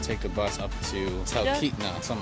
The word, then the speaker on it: Talkeetna: We are here in Talkeetna. Am I saying it right? Talkeetna, yes.